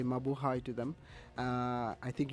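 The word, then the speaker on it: Mabuhay: of uh Filipinos listening today and I say Mau High to them uh I think you you speak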